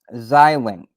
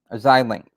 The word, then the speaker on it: Xilinx: Xilinx. I hope I don't know if I'm pronouncing it correctly. It's spelled XILINX.